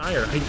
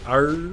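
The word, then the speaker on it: Aiur: It's pronounced ire, like the synonym for aggravation, but it is spelled A-I-U-R, which makes me just want to say like R or something like that, like sound like some sort of brain damaged dog.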